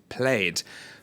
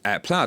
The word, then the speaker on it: Plaid: It's paying an eye-watering $5.3 billion for the software firm Plaid. Plaid is Plaid, I should say. I don't know why I'm mispronouncing that.